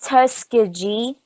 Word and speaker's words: Tuskegee: It's like it's spelled Tuskegee, but it's Yep. Tuskegee.